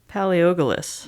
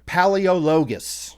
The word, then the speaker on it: Paleologus: Victor Paleogalus. No. Victor Paleologus. Well, that's how phonetically it's spelled, but... That's how they say it.